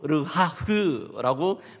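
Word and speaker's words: רוח: 특별히 이 영이라는 단어는 히브리어로 르하흐라고 발음을 하는데요, 여호와의 영과 결합될 때에는 이것은 구약에 나타나는 성령을 의미합니다.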